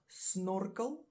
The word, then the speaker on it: snorkel: and then we have snorkel snorkel which is a snorkel just same same spelling different pronunciation and then which is